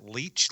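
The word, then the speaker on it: Leitch: competently anymore and David how do you pronounce it leech L Le leech sure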